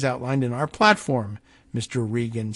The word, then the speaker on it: Regan: in our platform Mr Regan said I'm going with Regan the Don Regan pronunciation of r-e-g-a-n even though I know that there are people out there who do pronounce it Reagan and we were all